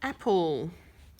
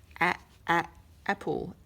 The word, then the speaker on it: apple: So our word is apple. Apple. Apple. And the E is silent.